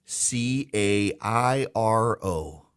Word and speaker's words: Cairo: Now, to me, Cairo is like the corn syrup, Karo. No, Cairo, Georgia. It is spelled like Cairo, looks like Cairo, and it is pronounced Cairo.